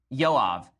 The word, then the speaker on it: Joab: So David's about to die, and he instructs Solomon to basically kill Yoav, the son of Zeruiah. Okay, Zeruiah. Okay, so Joab, it's spelled Joab.